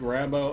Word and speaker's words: Rambeux: half tempted to play Rambo here to be honest or Rambo has his name I I know it's pronounced bow don't do it don't